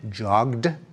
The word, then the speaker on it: jogged: When we say jogged, we pronounce it as a d. Joged.